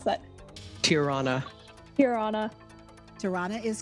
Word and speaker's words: Tirana: the first is albania tirana how do you pronounce that tirana hirana tirana is correct norway oslo oslo that is correct